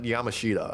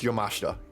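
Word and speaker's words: Yamashita: I know it's different, but I'm gonna it up either way. Blast kicks in this was insane. Is it Yamashta? Yes, it's Yamashta.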